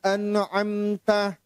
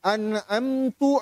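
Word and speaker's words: أَنْعَمْتَ: Siratal ladzina an'amta. Jadi bacanya an'amtu alaihim. Itu tidak sah salatnya. Karena antara ta dan tu itu fatal.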